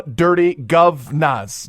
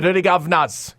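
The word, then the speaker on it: Dirty Guv'nahs: the duty Governors and I'm saying it just the way it's spelled actually the dirty govas gu u v apostrophe n a HS the dirty govas coming out of Knoxville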